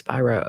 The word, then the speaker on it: Spiro: it wrong now okay so it's not Spiro it's Spyro okay Alex Spyro he's a